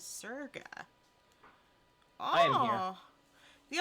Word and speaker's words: Sega: Sega was named after the merging of the original company named Service Games, so the way it should be pronounced is Serga.